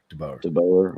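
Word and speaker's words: DeBoer: But don't forget, a lot of hate on Dubauer this weekend. Is that how you pronounce his name? DeBauer.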